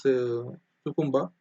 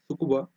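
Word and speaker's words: Tsukuba: G20 ministerial meeting has took place on trade and digital economy, which was held in Japanese city, that is Sukumba. Sorry, Sukuba. Sorry about the pronunciation.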